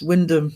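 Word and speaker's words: Wymondham: Uh, Windman Hummer is Windham.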